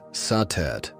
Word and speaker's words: Satet: Before the great names of Isis or Hatheror filled the temples of Egypt, there was Satet, pronounced Satet or Sadis by the Greeks.